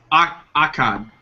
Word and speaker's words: Akkad: But I guess how do you pronounce his name? Malek Akkad? No. Who? Akbat? The producer. Akkad.